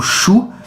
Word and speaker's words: Shu: um Deus A então eu vou simplesmente pronunciar aquilo que eu que eu vejo escrito né você tinha um Shu que é o s s h u s a transliteração do livro O Bicho como é que eu vou falar e o bico egípcios não tem condição então eu vou eu vou pronunciado no aportuguesamento mesmo né você tinha um